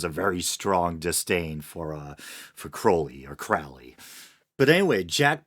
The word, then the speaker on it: Crowley: A lot of people pronounce it Crawley, but I think it's properly pronounced Crowley.